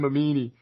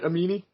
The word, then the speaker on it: Mamini: Mamini. Did I pronounce that right? Amini? Sorry. Yep, that's correct.